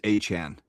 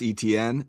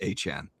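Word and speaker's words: Etienne: Chain no um ETN the way you pronounce his name is Achan. What? Yeah, I know everyone's called him Travis ETN, but he basically was like, "Yeah, my name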